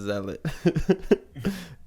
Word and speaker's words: zealot: going to hear if you play games it's pronounced zealot cuz I play nerd games but it really